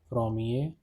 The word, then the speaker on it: premier: Pronunciation is premier and première.